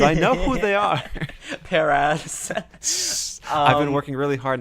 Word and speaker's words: Paras: Paras. I've been working really hard not to say that. How do you pronounce it, SC? Paris, There you go.